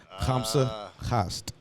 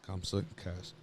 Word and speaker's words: Khamsa Cask: Khamsa Khast. That's how you say it. Khamsa Khast. Khamsa Cask.